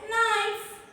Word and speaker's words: knife: But actually here the letter K is silent and in bracket I have written the perfect pronunciation of that particular word, right? So this word is pronounced as knife, right?